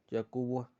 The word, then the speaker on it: Jacubis: Ganarse 300 pesos en los del señor Jacubis, pronunciado Jacubo, aunque por la mala cara con que el viejo lo miraba, sabía que no estaba ni cerca de decirlo bien.